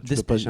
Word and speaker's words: Desplechin: Desplechin, moi j'aime bien dire Desplechin. Oh non, Je prononce toutes les lettres du nom de famille.